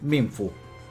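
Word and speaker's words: Mienfoo: Se pronuncia Minfu.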